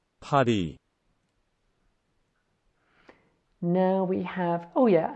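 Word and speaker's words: 파리: It's Paris, but it's pronounced like the French way. Paris.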